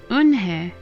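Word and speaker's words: Unhei: "Yes, it's pronounced Eunhae." "And it means grace," Mr.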